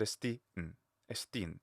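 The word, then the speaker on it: ἐστίν: So saying estin, esti, but estin. So it's like a little circumflex.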